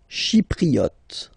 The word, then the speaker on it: chypriote: Chypriote. Remember this Y is pronounced like I.